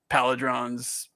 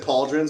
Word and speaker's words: pauldron: Yeah, I've always said pauldrons, but I've only ever. Oh yeah, I think I said it wrong. I don't think it was an I in it.